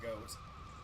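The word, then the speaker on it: Goht: go fight got goat I've always pronounced it got but I can see why people would say it's a goat because it looks like one all right here we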